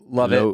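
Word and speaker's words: Lovatt: love it Lovette l-o-v-a-t-t how would you say that love it low back I feel like it's one of those things where it's spelled weird but it said normal okay Margaret how I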